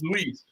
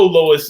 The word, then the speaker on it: Lois: I said Lois last week. You're like, no, it's Louise. Oh, man. Let's get it right, guys. I know Lois is the way it's pronounced.